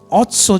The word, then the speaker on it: Otsar: तो इस शब्द ऑस्टर क्या है, इसका प्रोनाउंसिएशन ऑट्सो बोलते हैं।